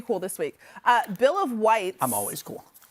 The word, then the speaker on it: Wights: Bill of Whites. I'm always cool. It's whites, not rights, but it's spelled WIGHTS. Well, you could have because